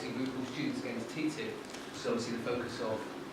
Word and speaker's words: TTIP: to talk about ttip ttip is the quick quickest way to pronounce the Acron the acronym the transatlantic